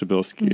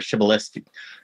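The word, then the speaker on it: Przybylski: I think it's pronounced Pryzbylski.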